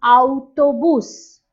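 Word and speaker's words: autobús: bus is called an auto boos notice the accent on you here that means you have to stress on this part of the word it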